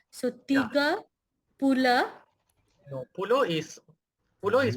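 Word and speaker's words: puluh: only come once okay so imp uh then Pula empath Paula lampan very good okay okay but just on the pronunciation it's pul p u l u h pul yes good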